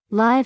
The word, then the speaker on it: live: Live has a short I sound.